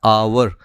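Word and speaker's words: hour: आवर पे हम लोग ये ध्यान देना चाहिए कि एज साइलेंट है इसीलिए इसका जो साउंड बनता है अ का साउंड बनता है आवर.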